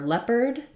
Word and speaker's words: leopard: the r diphthong Jaguar for leopard I may have a video for this as well it has first syllable stress EO just says s so think about that like left bird and then just an ERD so AR says ER in that word leopard um for cougar OU